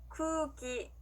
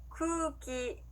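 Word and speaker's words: くうき: 자, 공기는요, 늘려주시면 됩니다. 따라해볼게요. 쿠기, 쿠기.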